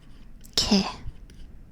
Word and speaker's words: 개: 개 is dog. 개. Does that make sense? 개. Not with like, it kind of sounds like a K, but it's not. It's like in between G and K, this letter right here.